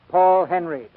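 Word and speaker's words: Paul Henreid: in many a day he pronounces his name paul henry he and i do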